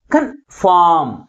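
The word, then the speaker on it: confirm: with first syllable ఏదది కన్ఫామ్ కన్ఫామ్ సి వై ఎన్ కన్ అనేది తక్కువ ఫోర్స్ గాను ఫామ్ అనేది ఎక్కువ ఫోర్స్ గాను పలుకుతుంది కాబట్టి ప్రైమరీ స్ట్రెస్ ని ఎక్కడ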